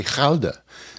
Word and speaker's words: Gouda: A cheese wheel, that would be Gouda if we had that. Jeez. Actually, it's supposed to be Gouda, is how they pronounce it.